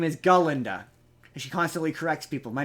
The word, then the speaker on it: Galinda: with her name's not Glenda her name is galinda she constantly corrects people my name is galinda g a l i g Linda um and